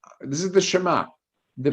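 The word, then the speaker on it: שמע: Shema. What the meaning Shema? Okay, so if you notice, it says Shema instead of Shema, the accent on the beginning syllable, and the again, ayin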